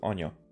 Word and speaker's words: anya: Interesting that it's Anya. It means mother in Hungarian. And and it's pronounced ona.